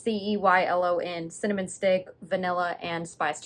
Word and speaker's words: Ceylon: Does this have a, don't know how to pronounce that word. Ceylon. It's Ceylon, cinnamon stick, vanilla, and spiced sugar.